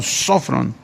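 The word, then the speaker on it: σώφρων: Esta palabra se tradujo del griego sofrón, tiene acento en la primera O, sofrón.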